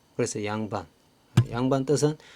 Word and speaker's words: 양반: 우리가 둘 양이라고 했습니다 근데 양자가 단어 첫 소리에 올 때 두 법칙이 적용되어서 양으로 발음이 된 거죠 그래서 양반 양반 뜻은 두 개의